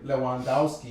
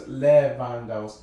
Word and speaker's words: Lewandowski: I always not pronounce his name Lewandowski, you know, but it's Lewandowski, even though it's with a W.